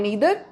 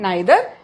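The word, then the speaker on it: neither: दूसरी बात, ईदर एंड नीदर American pronunciation है और आइदर एंड नाइदर British pronunciation है। हम लोग ब्रिटिश इंग्लिश को फॉलो करते हैं, तो आइदर एंड नाइदर, वैसे बोथ आर करेक्ट, दोनों तरह से आप लोग बोल सकते हैं।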